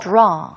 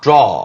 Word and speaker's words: draw: 자, 그리다, draw. draw. Uh-huh. 그 다음에 서랍은 drawer. 끝에 이제 R 발음이 있는 듯 하지만 사실 Yes. 앞에서 구분이 되니까요. draw versus drawer.